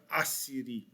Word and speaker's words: Assyrie: Se prononce pareil, se prononce égal, mais ça s'écrit différemment. L'ancienne, c'était L apostrophe Assyrie. Celle d'aujourd'hui, c'est La, séparé, Syrie. D'accord? Donc la Syrie. Une, c'est Assyrie et l'autre, c'est Syrie.